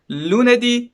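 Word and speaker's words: lunedì: it or not but from monday to friday the stress is on the last syllable of the word so you can say like this lunardi marte di mercoledi okay and then for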